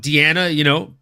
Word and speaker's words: Deanna: But we made the joke last week about Deanna, rhyming with Velveeta.